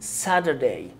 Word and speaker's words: Saturday: هو بص التي هنا هتكون flap T لانها بين two vowels ال A وال U، فهننطقها ده ده خفيفة كده. يبقى الكلمة دي ثلاث مقاطع، Saturday Saturday Saturday Saturday، يوم السبت Saturday Saturday Saturday.